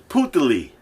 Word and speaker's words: Putali: So it's Putali.